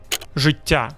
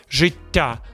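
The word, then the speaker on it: життя: Americans say Zhyttia or Zhyttia. Wrong. The correct way, Zhyttia. 3 things make this hard. Number 1, the zh sound. It's like the S in vision, but stronger.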